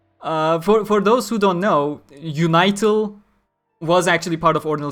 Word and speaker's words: Unital: And the Unital, which is again spelled with the same kana, so pronounced Unital. As in unite all.